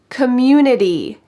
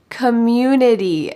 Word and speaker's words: community: about your local government community community notice that this T changes to a D in American English Community I love the